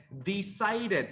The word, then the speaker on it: decided: It's decided. Remember, every Decided. time, all the verbs ending with T or D, like decide ends with D. Decided. Always you create an extra syllable.